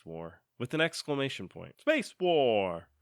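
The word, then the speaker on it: Spacewar!: Space War! Space War! Is really how you say it, which is the 1962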